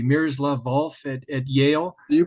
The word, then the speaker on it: Miroslav Volf: I'm hoping I'm pronouncing his name correctly, Miroslav Volf at Yale, You pronounced it correctly, yes.